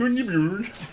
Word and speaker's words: Gunnbjorn: And it's pronounced Gunnbjorn.